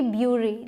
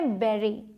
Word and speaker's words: bury: इसकी प्रोनाउंसिएशन देखने में लगती है कि होगी ब्यूरी, लेकिन होती क्या है? बेरी। बेरी बोलते हैं। तो ये टिपिकल प्रोनाउंसिएशंस हैं थोड़ी सी, इसीलिए मैंने इसे आपको बताना चाहा। यहाँ यू है लेकिन इसका साउंड है ए का, बेरी।